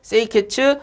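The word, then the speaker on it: 清潔: 이거 뭐냐면은 일본어예요. 일본어. 일본어로 요렇게 읽는다라는 거예요. 그래서 정리라는 거 일본어로 세이리, 그 다음 정돈이라는 거 세이톤, 그 다음에 청소, 세이소, 청결, 세이케츠, 습관화를 시치케 요렇게 부른답니다. 일본에서는.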